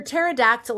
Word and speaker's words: pterodactyl: My version of the phonetic alphabet has a lot of dinosaurs in it, but for pterodactyl, I'm not sure what to do because P. the P is silent.